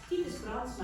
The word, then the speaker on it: Titus Brandsma: Titus Brandsma, I'll pronounce it the Dutch way, was born in Friesland,